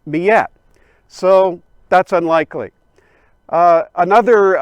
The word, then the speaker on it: Miette: historians suppose that uh the name miyette is a french pronunciation of the cree nation word for bighorn sheep miatak the cree man says about